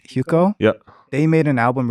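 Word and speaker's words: Hyukoh: it out um there's some Korean artists named huko spell it please h y u k o h okay H huko yeah they made an album recently with another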